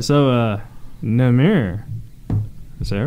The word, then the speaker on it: Nemr: So, Nemr, is that right? Dude, you can say it however you want. Nemr. It's Nemr, but go ahead. Rhymes with dimmer.